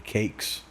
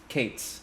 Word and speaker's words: Kates: Johnny Cakes. Kates. Kates. Yeah, Johnny Cakes. Like Phoebe Kates.